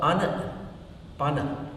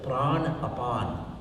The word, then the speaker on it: Anapana: So Anapana is again mispronounced. It is Prana Apana. Prana and Apana.